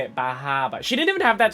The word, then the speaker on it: Bar Harbor: We're going to Bahaba.